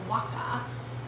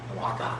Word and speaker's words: Oaxaca: we are going to be using Mezcal from Oaxaca. Right? Is that how you say it? Yep. Oaxaca. I can never say that right. Oaxaca. Oaxaca.